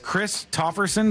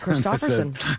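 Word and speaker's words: Kristofferson: You know, Courtney goes, "Oh, did you hear Chris Tofferson died?" Christopherson. That's not how you say it.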